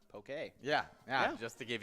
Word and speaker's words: poke: dish called poke by the way it is pronounced poke yeah yeah just to give you guys the correct pronunciation I always said uh Pokey but I always said Pokemon and I I